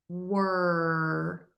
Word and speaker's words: were: Were. And the other word that you're asking about is war. And war like you wore a vest because it's cold today, are both pronounced W or.